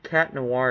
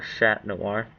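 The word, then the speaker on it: Chat Noir: Is it Cat Noir or Shat Noir? Um, in English it's cat noir. In French it's shat noir.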